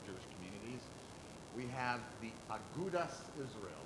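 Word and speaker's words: Agudath Israel: We have the Agudas Israel. They still spelled with a TH, but they would say the Agudas Israel.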